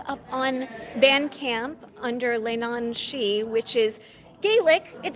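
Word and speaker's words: leannan sidhe: I've got music up on band camp under Lane on XI which is Gaelic it sounds exactly like it's spelled uh but for those who don't speak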